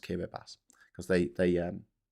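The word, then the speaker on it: Kiribati: Yeah, but in in Kiraabas in the in the Pacific is not pronounced Kiraabati. It's spelled Kiraabati, but it's pronounced Kiraabas because they they um they pronounce Ti as an S, which makes the spelling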